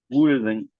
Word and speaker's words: wouldn't: Even if I could afford it, I wouldn't move out. I Y wouldn't, right? I Wouldn't. wouldn't, La L wouldn't, no se pronuncia.